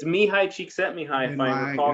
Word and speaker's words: Csikszentmihalyi: the name of Mihai Csikszentmihalyi. It just rolls off the tongue, and it's spelt exactly the way it sounds. Except there is a random Z in there that you never remember where it belongs.